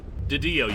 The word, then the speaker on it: DiDio: God, I can't pronounce his name. Didio, you got it right.